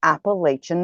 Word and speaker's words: Appalachia: Now, what we're talking about tonight is the Appalachian Mountains. Now, the Appalachian Mountains, which often is called and should be called the Appalachia. In other words, if you say it wrong, they will throw an Appalachia.